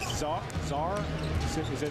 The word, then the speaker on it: Czar: How do you pronounce Czar? Do we pronounce that right? Silent C.